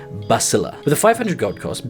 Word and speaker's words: Basilius: found out after all of this time it's pronounced Basila.